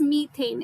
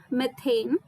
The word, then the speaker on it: methane: It is methane. It sounded like methane.